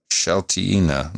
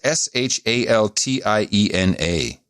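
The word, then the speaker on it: Šaltiena: Here we go. Shaltina. No? Yes, Shaltiena.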